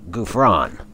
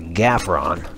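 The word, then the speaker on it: Ghufran: These particular videos highlight the exploits of Zara Gouffran, an associate of T.E. Lawrence. Now, in the last episode, I mispronounced her name. I called her Zara Gaffron.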